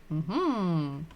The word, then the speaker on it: дом: Dom. This word is very easy because we learned letter D, so we know how it looks. Дом. And the rest of the word is om. D, o, m, dom.